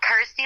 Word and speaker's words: Kirsty: and of course obviously it helps that it's you know rhymes with my name and helps people pronounce my name correctly so I'm like cool Kirsty like thirsty got ity like thirsty